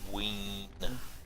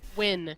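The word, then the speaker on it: Wynne: Let's talk to Wayne. What? How do you pronounce it? Win. Rest. Win. Rest would be Well, you're well. Wayne now. Like winning. Winning.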